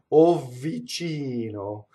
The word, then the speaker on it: vicino: So the V doubles slightly. Be very careful with double V. It's very, very slight. Lontano vicino. You see? It's very, you hardly can hear it.